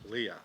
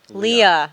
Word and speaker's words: Leah: Leah. Yes. Not just Lee. Leah. Yeah. Pronunciate that A.